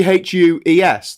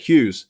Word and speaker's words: Hughes: Hughes makes no sense. It should be Hues. That's it, Hughes. It doesn't need the GH. He has literally 2 silent letters in the middle of it.